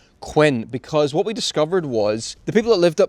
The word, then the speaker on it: Quinn: Quinns and it was spelled q i n n the way you would expect but they pronounced it Quin because there's some records that where it's written down as Queen so obviously they've said my name is Queen and someone's written q e e n but it was actually